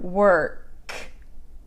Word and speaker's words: work: Work has an O, but it sounds like an So you know the verb to be in past tense, like you were there, were. It's the same sound, work.